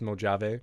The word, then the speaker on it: Mojave: So It's pronounced Mojave.